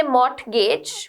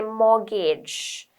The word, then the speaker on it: mortgage: it is a mortgage we don't say mort gauge we say mortgage the t is silent okay but when you